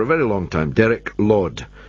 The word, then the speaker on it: Laud: very long time, Derek Laud. That's L-A-U-D, though the way he pronounces it, you might well think he's a lord, and all the world